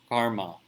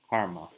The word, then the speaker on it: karma: Bill Ezekiel asks a question about dealing with karma. Karma, right? But properly pronounced as karma.